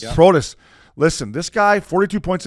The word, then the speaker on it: Protas: Protas. Yeah. Protas.